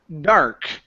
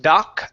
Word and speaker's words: dark: Let's go to the word dark. So pronounce the R sound here. Instead of doc dark do dark do dark do dark do dark do dark house it's dark dark house.